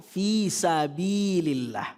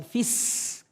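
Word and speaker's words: في سبيل الله: watujahiduna fi sabilil Watujahiduna fi sabil, perhatikan fi sabilillah, bukan fis, tidak ada tasjidnya.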